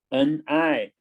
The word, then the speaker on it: 你: Wir 我 I 你 N-I. Now N near, right? Near, E join together, ni, okay?